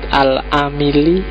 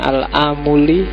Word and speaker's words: Al-Amili: Kemudian yang kedua Bahauddin Muhammad Al-Amili, ada yang membacanya Al-Amuli.